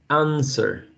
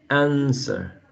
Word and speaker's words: answer: Just like in the word, for example, sorry, there's the word answer. Answer. Right? Answer. This is not pronounced.